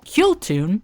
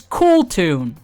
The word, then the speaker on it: Kewl Tune: Kill tune is the intended pronunciation. The game's official pronunciation is cool tune.